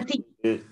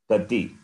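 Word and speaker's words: कति: You have to correct your pronunciation. The Akshara Ucharanam is not proper. It is, you are saying Gadi, or you are saying the Kakara becomes Gakara and Ti becomes Di. That has to be corrected.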